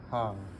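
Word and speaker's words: Х: Ha. The X is confusing. It's ha. And the same thing is the big X and lowercase x both look the same. Pronounce ha. Se.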